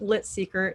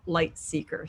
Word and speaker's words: Lightseeker: first Winner's name wrong it wasn't lit Seeker it's lightseeker so I would like